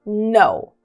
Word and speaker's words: know: antes da letra N, o K sempre vai ser mudo, tá? Então a gente não vai pronunciar esse K. Então a gente não diz know, tá? A gente diz know, know.